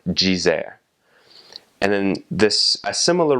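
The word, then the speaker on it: dizer: So it's pronounced veraji or um the the word for to say is jer spelled d i z e r jzer.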